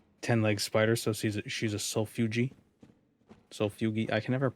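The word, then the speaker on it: solifugae: Actually, it's pronounced sulfugi.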